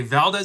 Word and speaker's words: Valdez: Okay, Valdez is how an American would say it. Valdez is the correct Spanish pronunciation.